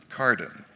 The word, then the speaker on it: Carden: acevedo butler iii laude carden which rhymes with garden laude elizabeth raquel cyrone